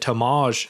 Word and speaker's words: TMAJ: Like, it was like TMAJ, and she said Tamaj, and she's like, I think that's how you say it.